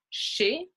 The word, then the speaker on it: chez: comme le riz, rice, et les mots qui se terminent par EZ qu'on prononce E. So words that end in EZ, we generally pronounce E, comme chez, at, chez is at a person's house or office.